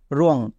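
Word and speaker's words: wrong: আছে কিনা যদি আর থাকে তখন ডব্লিউ এর উচ্চারণ হবে না যেমন রাইট নেক্সট রং এখানে ওদের ডব্লিউ আছে এবং ডব্লিউ এর পরে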